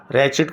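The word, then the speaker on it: wretched: रैचिड condition, pronunciation में W नहीं आएगा।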